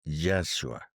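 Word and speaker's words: ישוע: del mesías Cristo Jesús el nombre real y la forma como se pronuncia el nombre de Jesús en el hebreo es yashua entonces lleva inmerso el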